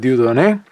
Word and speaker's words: Dieudonné: up this article by, I guess you pronounce it, Dieudonné. It's got an accent and the E, from 1944.